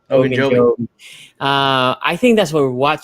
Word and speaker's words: Ogunjobi: That's why you kept hearing about Quincy's boy, and I'm going to botch his name, Ogunjobi. That's how you pronounce it. Ogunjobi.